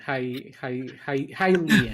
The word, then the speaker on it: Hylian: How the hell do you pronounce this? The hydration. Hylian.